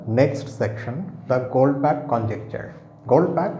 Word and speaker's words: Goldbach: section the goldpack conjecture gold pack it's pronounced gold pack as if you have a K in the end although you have ch now tonight's video does